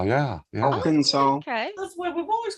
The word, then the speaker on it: Arkansas: wrong pronunciation it sounds like that or it's spelled like that yes but it's Arkansas yeah Arkansas okay we've always called it isn't that messed